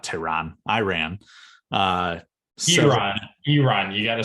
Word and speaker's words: Iran: Iran, you got to say it correctly.